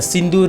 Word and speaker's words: Sindhu: Indus river, and also few countries people pronounce this Sindhu river as the Hindu river. Both the words or the names like Indus, Hindu are same but mispronounced, that is the incorrectly pronounced words of the Sanskrit language, that is the Sindhu river.